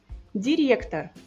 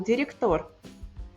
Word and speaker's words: директор: Директор, não diretor.